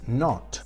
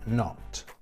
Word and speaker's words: not: Pero cuando la negación es not, que es la negación que se le suele añadir a los verbos, pues en este caso la pronunciación de esa O es una O breve, not.